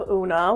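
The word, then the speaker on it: Oona: Grove for a boy next up we have unaa which spelled specifically this way with o o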